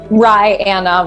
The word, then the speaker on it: Ryanna: Ryanna. Rye like the bread and Anna like the woman's name.